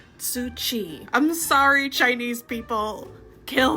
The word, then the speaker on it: Tzŭ Hsi: Life and Times of Susu. I overthought this one and that's why I mispronounced it. It should be said, "Being the history of the life and times of Tsuchi."